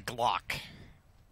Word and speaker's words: Glock: config down below with the Glock rhymes with shock I know that's what